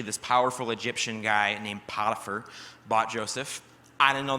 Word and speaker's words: Potiphar: But the pronunciation will be up on the screen in a minute, and basically, it's Potiphar. That's how you say it.